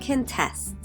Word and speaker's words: contest: between contest and contest contest with the first syllable stressed is a noun it means a competition people in the United States like to watch baking contests on TV contests with the second syllable stress is a verb it means to oppose one of the judges